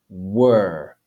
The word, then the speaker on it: were: The word were, we see we have the English W followed by the English schwa E, w, and then the English R, were, and a silent E, which is not pronounced.